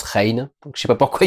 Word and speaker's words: Rahne: Et un des personnages qui s'appelle Rain, R-A-H-N-E, mais ça se prononce Rain.